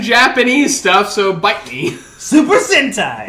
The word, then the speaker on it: Super Sentai: Super Sentai. Rhymes with hentai.